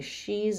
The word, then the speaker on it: she's: has otherwise I say she's been which just sounds like she's letter s the contracted part of has keeps its z sound she's she's been so